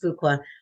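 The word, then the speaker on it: Fuqua: at Duke University's I I'm hoping that that's pronounced fuka uh School of Business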